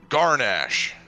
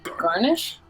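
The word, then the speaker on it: Gar'nash: let's go what's your name hippo man it's garnach all right let's go garnach let's go garnish no we got it again it's spelled g-a-r apostrophe n-a-s-h garnet they have weird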